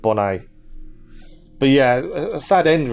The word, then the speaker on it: Bonnet: many a pirate did i think monet pronounced the t at the end of his name oh said bonnet instead of bonnet but yeah a sad